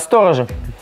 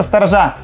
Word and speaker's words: сторожа: Сторожи. Все, четверка остается. Почему? Потому что сторожа.